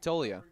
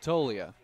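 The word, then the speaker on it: Toglia: He gets Darcy swinging, and now we'll see Zach Tolia. Zach Tolia, affectionately known as Togs, which I find funny because the G in his last name is silent, yet it's part of his nickname.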